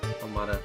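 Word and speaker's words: Almata: Almada, yeah. Not Almighty, that's not how that's pronounced.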